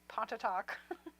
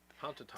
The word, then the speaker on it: Pontotoc: While you were talking, I was trying to pronounce where Dean Harkness is from. Pontotoc. Pontotoc. Technically Pontotoc, but Pontotoc.